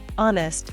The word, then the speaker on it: honest: bread with a knife honest silent h he is an honest